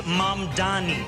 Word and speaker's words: Mamdani: And furthermore, the name is Mamdani.